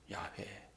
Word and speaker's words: 야훼: 우리 하나님은 야훼 알려주셨잖아요. 야훼. 그 발음을 잊어버려 가지고 우리는 이제 여호와라고 부르지만 야훼.